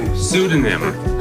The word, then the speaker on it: pseudonym: Oh, pseudonym. Pseudonym? There you go. Oh, okay. That starts with a P.